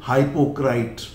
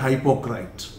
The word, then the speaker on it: hypocrite: Some people pronounce it हाइपोक्राइट और सम बोलते हाइपोक्रेट.